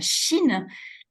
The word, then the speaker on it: Shin: Jin, ça s'écrit J-I-N, Shin, S-H-I-N, ça se prononce comme le pays, la Chine.